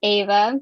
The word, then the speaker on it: Ava: All right, so next on the list is Ava. Pronounce that right. Pretty sure. Whenever you start talking, we'll start timer. Hey guys, my name is Ava. You did it right. Congratulations.